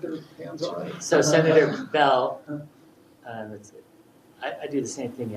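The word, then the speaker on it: Beall: So Senator Bell, I do the same thing, Andy. It's spelled B-E-A-L-L, but he pronounces Bell.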